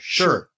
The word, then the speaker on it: Shih: And I'm going to get the name wrong, and my pronunciation is probably going to be wrong. Shih. S-H-I-H. Sure.